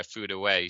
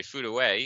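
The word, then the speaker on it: Furue: listened to the commentary and it yes yeah food away so uh so so if you're trying to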